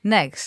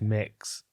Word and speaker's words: Mix: Next. Let's go. No, it's pronounced mix. I said next.